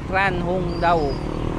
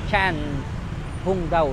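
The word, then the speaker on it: Trần Hưng Đạo: si trang hung daw ang basa nila ang basa tran hung daw pero ang pronunciation niyan is Chang Chan hung daw Chan hung daw isa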